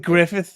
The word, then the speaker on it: Griffith: So, his name was was I Griffford is legit Griffith is how that would be pronounced.